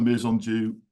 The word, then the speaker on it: Maison Dieu: I'm the man agement uh officer at the meon DU in do and that's how we pronounce it in do actually so that's that's